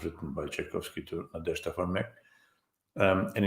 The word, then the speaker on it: Tchaikovsky: Please pronounce it one more time. Tchaikovsky.